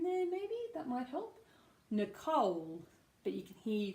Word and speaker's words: Nicole: one we've got is Nicole Nicole so this is interesting because one of the only names that has no stress on the first syllable but stress on the second syllable so no see I